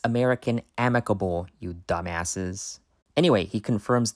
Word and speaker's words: American Amicable: It's American Amicable, you dumbasses.